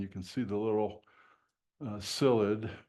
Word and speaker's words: psyllid: can see the little psyllid, P-S-Y-L-L-I-D. It's a great Scrabble word. The P is silent, so psyllid.